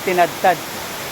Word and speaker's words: Tinugtog: Guys, ito na yung Tinugtog Falls. Pero ang basa niya pala parang tinadtad. Parang i-pronounce mo yung O as A. So tinadtad.